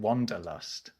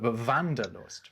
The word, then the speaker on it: Wanderlust: English and that's uh people in English might pronounce it wonderlust but but vanderlust right this I have heard this word Wanderlust